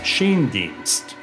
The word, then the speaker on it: Schoendienst: kids collecting baseball cards that they learned to pronounce the name Shane deenst in 1994 Hub retired Andy and Lorelei teamed